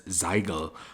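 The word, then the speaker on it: zeigen: Zin meaning sign or zyen meaning show in English in the overfalls dialect the word zyen is pronounced as Zyle which possibly was pronounced even differently in the 14th century as zole and that would make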